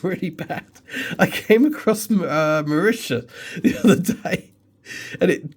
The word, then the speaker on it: Mauritius: I typed it into Google and typed in pronunciation. The second it was like Mauritius, I was just like, oh.